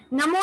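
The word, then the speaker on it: णमो: नमो या फिर नमो, हम लोग प्रचलित नमो बोलते हैं, वैसे सही उच्चारण नमो है, ण से उसका उच्चारण होता है।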